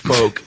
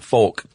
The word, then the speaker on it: folk: It's pronounced folk like folk and not folk.